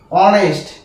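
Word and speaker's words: honest: এই ওয়ার্ডটা ম্যাক্সিমাম দিয়ে থাকে এই ওই এসটি অনেস্ট এটা হচ্ছে অনেস্ট ঠিক আছে আবার একটি ওয়ার্ড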